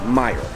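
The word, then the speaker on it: Meijer: kind of entertaining well we weren't sure how to pronounce it it's Meyer and the IG j je r it might be a soft J I'm not sure but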